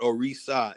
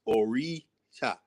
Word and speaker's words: Orisha: It's not Orisha, it's not Orisa, it's Orisha.